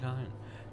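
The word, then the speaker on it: kine: Kind, by the way, a derogatory way for vampires to refer to mortals comes from kindred and kind. Just remember that kind rhymes with swine, and you'll get the picture.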